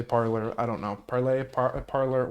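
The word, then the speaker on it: Parler: this app called parlor parlay it's pronounced it's spelled like the french verb of to speak but people say parlor i don't know parley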